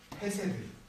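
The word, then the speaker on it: חֶסֶד: 헤세드 혹은 캐쉐드라고 발음하는 하나님의 인자하심, 하나님의 그 mercy, 그 자비하심은 받을 자격이 없는 자에게 주시는 자비입니다.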